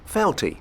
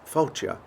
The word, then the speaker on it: Fáilte: Felty, which means welcome. It's not, it's pronounced Fáilte, which is welcome in Irish as well as Scots.